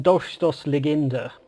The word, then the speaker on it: Dolchstoßlegende: German Dolchstoßlegende. Good work. That little, well the one that looks like a B is actually a double S.